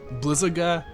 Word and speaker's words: Blizzaga: Like, it's all the spells have short sounds. It's Firaga, Blizzaga, Thundaga, and so on.